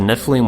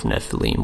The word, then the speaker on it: Nephilim: In this variant spelling in Numbers 13, we see a scribal gloss, indicating the base word of Nephilim was originally pronounced with a long E.